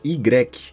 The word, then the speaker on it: Y: Sim, existe uma vila na França que seu nome é formado apenas pela letra Y, ou Y, como a letra é pronunciada em francês.